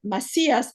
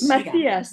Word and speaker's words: Macías: así el tetuaní verdadera Macías m a c y con con accento a s Macías es como diremos como la pronunciación en hebreo sí Masías exactamente entonces también ha